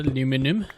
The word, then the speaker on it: aluminum: We need some of the aluminum, or aluminium, wherever you're from is how you pronounce it.